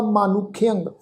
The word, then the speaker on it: मानुख्यंग: मम्मे नू कन्ना, नन्ने पैर औंकड़, खखे नू सियारी, फिर ऐड़ा अखर उहदे उत्ते टिप्पी की मात्रा का नास की उच्चारण होएगा मानुख्यंग। गण गंधर्व देव मानुख्यंग पश पंखी विमोहन है।